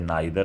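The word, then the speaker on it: neither: आप इसे नाइदर और आइदर भी प्रोनाउंस कर सकते हैं।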